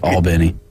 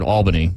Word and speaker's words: Albany: hear me say it albny Al oh is that how you say it is it ALB albny you can say it however you want I always said Albany ALB but there's in Albany